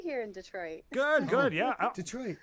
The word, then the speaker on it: Detroit: She said it Detroit. It's Detroit. I say it wrong. I say it Detroit. I say it like He says Detroit. Yeah, I say it like Detroit. I don't know why I say it like that. You've been watching too many basketball games.